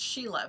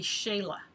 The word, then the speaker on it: Shelagh: heard that the real the proper way to say my name like we were always told it's Sheila but apparently because it's Gaelic it's I think it's supposed to be Shayla yes we'll say shame